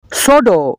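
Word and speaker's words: pseudo: psychiatric copy silent है सोडो सोडो का मतलब है जाली सोडो का प साइलेंट है नो नो का मतलब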